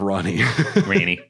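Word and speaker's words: Ranni: Once worn by the snowy crone, who the young Ranny encountered deep in the woods. I do like Ranny instead of Ronnie. Ranny. I pronounce things phonetically.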